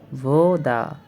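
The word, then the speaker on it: вода: আপনার এটার উচ্চারণ হবে ভোদা, এর অর্থ হচ্ছে পানি।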